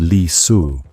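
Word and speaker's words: Li Si: His prime minister Li pronounced Li Su and the chief unic Jao Gao pronounced Jao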